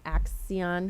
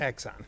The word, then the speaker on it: Axon: Uh the system that we have uh looked at and would be recommending is the I'm going to say it wrong. Axion. Axon. Axon. I always want to add letters. Axon.